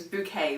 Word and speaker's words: Bucket: called hyacinth bouquet I'll actually spelt bucket but she was insistent they're dumb it was bouquet was the pronunciation so she's a sort